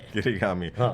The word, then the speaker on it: kirigami: on since you're a nerd knowing stuff is kirigami yeah if you am I saying it correctly kirigami the sister of origyami origami origami yes papa uh papasan Um I forgot.